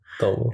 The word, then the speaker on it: Tamil: He didn't say Tamil. He said Tamil.